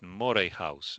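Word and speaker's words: Moray House: Fistle Chapel, Adam Smith, Adam Smith, Mari House. That's what was incorrect. Mor House. It should go like Mor House.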